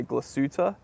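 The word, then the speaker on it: Glashütte: capable watch Haiku says I thought it was pronounced glass shoot pronounce it however you want I'm American I've heard people I've heard the majority of people say glass suta but you can say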